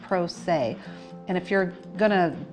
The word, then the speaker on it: se: PR 0 SE and it's pronounced say and if you're going